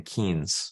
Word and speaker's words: Keynes: Keynes.